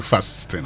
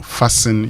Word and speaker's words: fasten: But uh don't say 10. Don't say fasten. Fasten. No. Fasten your seat belt. Fasten. Yes. You fasten your seat belt. It's like that. That's if if you want to say it right.